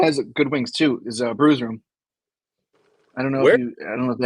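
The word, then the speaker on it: Bru's Room: It's spelled at bruise like a bruise that you get hurt. Locations: Brews Room. Sports. No, it's Brew. It's Brew. BRU. Bravo Romeo right.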